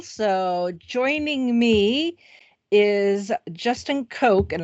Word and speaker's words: Coke: So joining me is Justin Coke, and I'm presuming that's pronounced just like the soda.